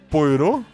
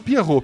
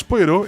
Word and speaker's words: Poirot: É, como é que vocês pronunciam o detetive da da Agatha Cristi? Poirô. Poirote, Poirô, né? Eu acho que eu sempre falei Poirô. Eu já ouvi gente falando Pierrô. Pierrô tá muito errado.